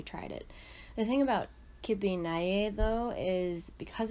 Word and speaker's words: kibbeh: Something else we would often sell out of was kibbeh. It spelled like it looks like kibbeh, but Gada pronounces it kippy.